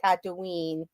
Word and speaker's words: Tatooine: Tatooine, I believe it's pronounced Tatooine.